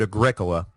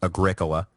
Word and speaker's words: Agricola: mock Triumph was that Agricola and yes thank you for the pronunciation correction it is Agricola not Agricola which yeah I agree sounds like some kind of terrible hippie soda so I'm sorry about